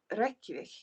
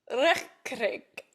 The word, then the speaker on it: Reykjavik: No, like roll your Rs. Reykjavik. Reykjavik. If you want to sound like you know what you're doing when you're speaking a Nordic language, always just put the emphasis on the first syllable.